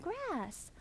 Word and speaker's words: grass: 많은 분들이요, 이 grass랑 glass랑 헷갈려 하세요. grass or glass.